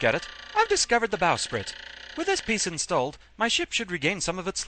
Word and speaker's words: bowsprit: It can also be pronounced bowsprit, though, but it's mainly a regional thing.